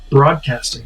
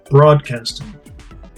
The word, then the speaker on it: broadcasting: Broadcasting, you have 3 consonant clusters. Br, not burra, but br. Broadcasting.